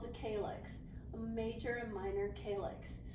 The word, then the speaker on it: calyx: Major and minor calyx, that's how you pronounce that.